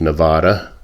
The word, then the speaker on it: Nevada: But the interesting thing that happened in Nevada, and it's not Nevada, I know it should be pronounced Nevada by the Spanish pronunciation, but we are called Nevada.